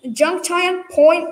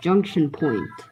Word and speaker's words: Junction Point: Junk Time Point logo. Actually, it's pronounced Junction Point.